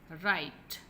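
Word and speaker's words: write: राइट, राइट, इसमें W silent है, ठीक है।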